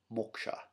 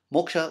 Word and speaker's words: moksha: true self as true self, this is called moksha. Moksha. And moksha is liberation from the cycle of samsara. It is, it's spelled M-O, it's probably K, I guess in English it would be S-H.